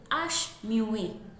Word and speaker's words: h muet: When you first start learning French, your teacher will inform you early on that the H in French is silent. For example, we have hospital in English, but in French we say, and you can see that the H in hospital is silent.